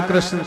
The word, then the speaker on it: कृष्ण: वह लटपटा जाएगी है को शुद्ध उच्चारण कृष्ण कृष्ण शब्द का उपयोग नहीं कर पा अ कि भारत का